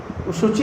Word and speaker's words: शुचि: शुचि होता है, सूची होता है। सूची और शुचि में अंतर होता है, प्रोनाउंसिएशन में।